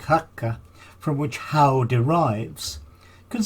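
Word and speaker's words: haugr: passing beneath the wall the Old Norse word is spelled h-a-u-g-r but pronounce something like hakka from which Howe derives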